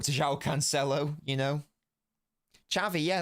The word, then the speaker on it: Xavi: Xavi, yeah, that's how you pronounce Xavi because of the region he's from. It's not Xavi, it's Xavi.